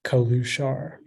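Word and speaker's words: călușar: Are there any alternate pronunciations? It's just the one, Kalushar.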